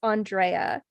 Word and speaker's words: Andrea: the um episode today and including how to pronounce my name it's andrea andreas i'm sorry my parents are extraordinarily pretentious